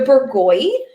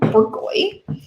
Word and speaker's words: Bourgogne: That's how you say that lovely word there on the label, Bourgogne. You can be more, how about this? You could be more correct. I could be better about my French pronunciation, I guess, more French. But I think it's a serviceable Americanization of that word.